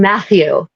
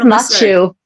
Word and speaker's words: Matthew: I heard Machu. Oh, yeah. I heard Machu because you can't because because you're Irish and you suck at pronouncing the thorn.